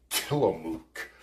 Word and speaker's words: Tillamook: Oh, that's how you pronounce it. Tillamook.